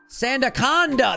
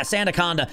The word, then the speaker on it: Sandaconda: How do you pronounce this Pokemon's name? Sand coaster. What the hell is this Pokemon's name? Sandaconda. That makes more sense. Yeah, Santaaconda.